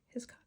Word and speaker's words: Hiscock: by let's see um Aaron Murphy his hiscock hiscock is how you say that um combined with